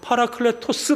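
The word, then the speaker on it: παράκλητος: 클래스 c 라고 합니다 하지만 여기서 보에서 는 헬라어로 바로 팔아 클레 토스 라고 읽어요 이 뜻은 의외로 하는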